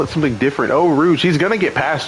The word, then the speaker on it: Eau Rouge: How do you pronounce it again? Eau Rouge. Eau Rouge. I don't know why I want to call it something different. Eau Rouge.